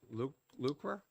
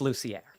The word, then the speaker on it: Lucier: I believe it's l luer did I pronounce that correctly did I pronounce your name correctly uh it's lucier okay sorry it's all